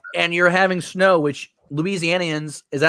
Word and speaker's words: Louisianians: a week off and you're having snow which louisianians is that how you say it yep don't